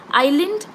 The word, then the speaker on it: island: examples for silent words Island i s l a n d s is silent right but often is